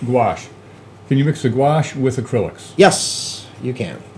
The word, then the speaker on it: gouache: mix the Coase how do you say it wash wash can you mix the gouache with acrylics yes you can and why would